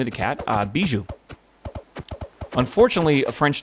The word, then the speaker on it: Bijou: Bijou.